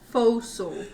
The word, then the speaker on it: forecastle: So, fossil. Why is it Forecastle. I'm a spelled like that?